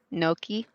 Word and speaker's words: gnocchi: Like their gnocchi is just like, oh my gosh. But One of the things... how did you say that word, Snow? Gnocchi?